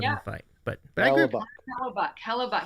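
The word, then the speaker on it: Hellebuyck: Hella Buck say his name. Hella Buck.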